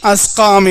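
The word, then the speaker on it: الأسقام: இன்னிதுக்கல்ஸ் வல்ஜுனூன் வல்ஜுதாம் அஸ்காம் இந்த இடத்துல உச்சரிப்பு ரொம்ப கவனமா இருக்கணும் அஸ்காம் என்று சொல்ல வேண்டும் மீண்டும் ஒருமுறை ஓதுறேன் கவனிங்க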